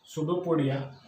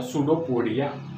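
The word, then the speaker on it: pseudopodia: बाद में हम देखते हैं they have सुडोपोडिया. Second characteristic, they have सुडोपोडिया. सुडोपोडिया उसका स्पेलिंग PSU सुडोपोडिया.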